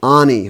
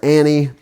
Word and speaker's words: Ani: DN I'm talking about Nishan Ani or Annie it's different people pronounce it different ways but you are probably